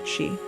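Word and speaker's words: sídhe: The Irish call them Sid, pronounced she.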